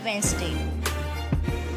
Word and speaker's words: Wednesday: So in which you have to silent the D and say it only Wednesday.